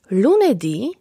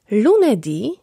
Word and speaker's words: lunedì: W słowach od poniedziałku do piątku akcent pada na ostatnią sylabę. Powtórzysz po mnie? Lunedì, martedì, mercoledì, giovedì, venerdì, sabato, domenica.